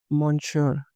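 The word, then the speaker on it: monsieur: Sorry wrong spelling मॉनशोर।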